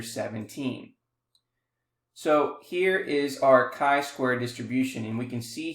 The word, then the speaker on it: chi-square: Now the symbol is called chi-square, is pronounced chi-square to rhyme with sky square.